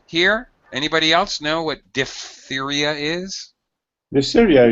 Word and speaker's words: diphtheria: Diphtheria. No. The PH should be pronounced as an F.